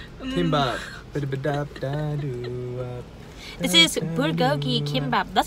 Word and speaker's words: kimbap: It rhymes with bibimbap. The Hanson song. Kimbap.